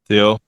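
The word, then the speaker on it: Théo: So in French, we have the H in France, but you don't pronounce the H. So we make it easy for English speakers. Just pronounce without. Remove the H.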